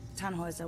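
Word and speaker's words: Tannhäuser: why what's your name tanhauser we'd pronounce it tan hoiser with an umlaut german roots yes my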